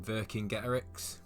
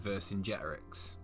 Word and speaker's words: Vercingetorix: now before we start you may notice that i say verse and get eric's there are a few different pronunciations including virgin gheterix and verse in generics to name a few but i'm gonna say verse in gerex all right got it